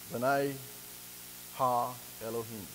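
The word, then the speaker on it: Bene Ha Elohim: Sons of God here, if you look it up in the Hebrew, is spelled B-E-N-E, and then capital H-A, and then capital E-L-O-H-I-M. B'nai Ha Elohim.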